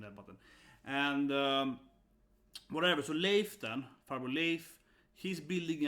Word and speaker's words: Leif: So that's how you say it, Leif. Yeah, and I was like, how do they say here? Leifu? Whatever, yeah, Leif.